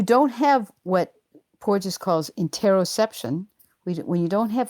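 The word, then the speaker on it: interoception: You just used the word and I and I don't know how to pronounce it in interar interosception.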